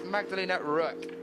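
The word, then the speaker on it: Magdalena Röck: there's an umlout there which would usually in German extend an O to an ooh sound but here it's got an o sound so it's magdalina Rook then we're not going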